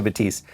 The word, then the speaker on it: Batiste: pourri um what's how do you say cheese batiste okay susie batiste um so i really enjoyed what she had